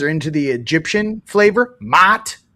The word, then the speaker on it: Ma'at: into the Egyptian flavor, Ma'at. It's m a a t, and I can't say it normally. I can't go Ma'at because when you say it, it's like It's almost like when you're yelling mom.